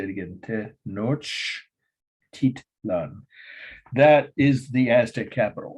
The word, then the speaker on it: Tenochtitlan: If you say it slowly and phonetically, it's literally, it's spelled phonetically. It's a Spanish word. Tenochi. Whoops, I missed already. Tenoch is Tenochtitlan. I'll say it again. Tenochtitlan.